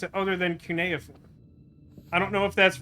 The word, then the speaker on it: cuneiform: it's ancient oh that's uniform that's not how you pronounce that is it i've always heard that pronounced cuneiform what is this place